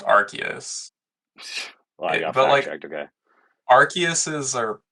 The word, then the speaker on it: Arceus: well it's definitely not arus is because it's pronounced archus okay archus is are sounds kind of weird